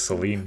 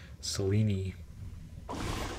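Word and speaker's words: Selene: that which I require is that actually how you pronounce I thought it was Seline it be selini like weenie o I can give you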